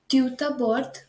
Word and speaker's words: tout d'abord: Okay, so introductory phrases we have tout d'abord, okay, which means firstly, and there's premièrement, which means firstly as well. So in tout d'abord, the pronunciation of D and A is joined.